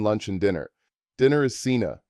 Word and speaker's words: cena: Dinner is cena, pronounced se na.